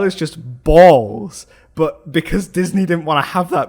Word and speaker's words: Balse: So in the Disney dub they pronounce it Barus. They sort of really accentuate the U in it, right? To actually write it down canonically, it's BALSE, right? And yes, it's balls, because when things get